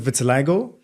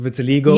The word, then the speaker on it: vitiligo: Some people pronounce it vitiligo. Here we go I know again. You pronounce it vitiligo. Vitiligo. I said vitiligo. It depends on, I guess, the first research you did and who told you about it first.